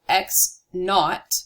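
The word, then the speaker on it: x₀: to talk about which position you mean so X naught this 0 here is pronounced not X naught is the initial position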